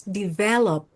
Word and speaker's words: develop: So, just so you will remember, it's develop. So, the accent in the second syllable.